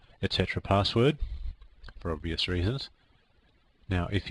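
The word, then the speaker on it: /etc/passwd: an actual file called slcp sswd it's usually pronounced Etc password for obvious reasons now if you have permission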